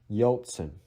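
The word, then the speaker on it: Ельцин: Yeltsin. But in Russian, it should be Yeltsin. Yeltsin.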